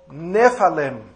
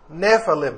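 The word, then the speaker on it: nephilim: es la palabra hebrea nefalem n e p h i l i m nefalem ph en inglés se pronuncia como F nefalem de ahí viene la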